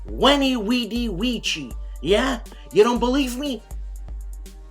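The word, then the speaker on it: veni vidi vici: flames war in europe vani vidi vici which is not pronounced that way it's when he weedy ouija yeah you don't believe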